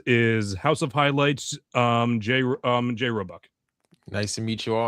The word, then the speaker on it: Roebuck: Did I pronounce that right, Roebuck? Yeah, you got it right, Roebuck.